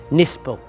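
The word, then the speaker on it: Knispel: people thought was actually German army man called Kurt nispel it's spelled k n i s p l but it's pronounced nispel and he was one of the great exponents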